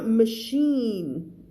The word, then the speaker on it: machine: ้ อ ่ า น ว ่ า machine ร ู ป เ ป ็ น ch